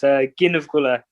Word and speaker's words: Gneeveguilla: It's a hard one to pronounce. It's Gneeveguilla.